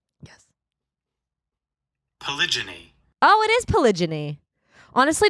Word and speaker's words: polygyny: Pronunciation. Yes. Polygyny.